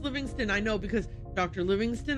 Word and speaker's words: Livingstone: David Livingstone. It's pronounced Livingston, I know, because Dr.